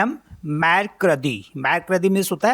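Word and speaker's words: mercredi: ना तो वेनसडे को फ्रेंच में बोलते हैं मैर कदी एम अ एर से एर अ दे ई इसे पढ़ते हैं हम मैर कदी मैर कदी मीस होता है वेनसडे मैर कदी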